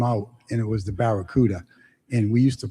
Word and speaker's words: Barracuda: the automobile came out, and it was the Barracuda, and we used to pronounce it Baccaruda.